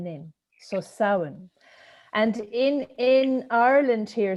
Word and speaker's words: Samhain: the word saohan means it's spelt s-a-m-h-a-i-n which is a gaelic word but it's pronounced sow in in so sauen and in in ireland